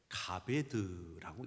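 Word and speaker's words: כָּבֵד: 히브리 원으로 카베드라고 씁니다 이 히브리 말은 우리 글처럼 왼쪽에서 오른쪽으로 읽어 내려가는 것이 아니고 오른쪽에서 왼쪽으로 읽는데 가베드라고 읽습니다 한번 따라해 보실까요 가베드 카베드이 카베드라고 하는이 단어의 의미는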